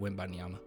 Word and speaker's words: Wembanyama: Everyone makes fun of me in the way I say his name, but he's saying Wembanyama. At least I say Wembanyama, but I've been doing it right, Wembanyama.